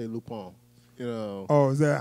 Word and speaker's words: Lupin: like the you know the only time i ever heard the name pronounced was watching lupone iii yeah yeah that's the way we said lupone yeah i say lupine yeah like i guess some people say lupin it's at the point